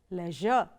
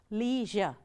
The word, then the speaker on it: leisure: The first one is pronounced as leisure. The second pronunciation says leisure. Now, both are right. The first one is the British way of pronouncing. The second one is the American way of pronouncing it.